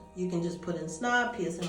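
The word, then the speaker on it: Psnob: under my brand name snob it's spelled PSN o the p is silent so I'm on IG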